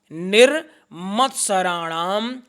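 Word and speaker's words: निर्मत्सराणाम्: गया आगे निरत्सराणाम सताम निर मत्सराणाम शताम छोटी नी है म के ऊपर आधा र लगा हुआ है क्या उच्चारण होगा निर निर मत्सराणाम सताम उसके बाद वेदम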